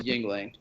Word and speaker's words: Yuengling: So like Yuengling, am I pronouncing that right? Yuengling? Yeah, you are pronouncing it right.